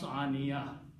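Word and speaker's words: عانية: So that's the reason aniyatun becomes aniyatin. And when you stop, you still pronounce aniya. Okay? You don't pronounce tin or tun.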